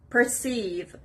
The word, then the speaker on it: perceive: eight word it's perceive perceive the stress is on the second syllable perceive it means to